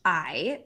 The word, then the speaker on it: Coyuchi: Koyuchi. Yeah. Koyuchi. Yeah. Okay. And how do you spell that? Koyuchi. It's Coyuchi.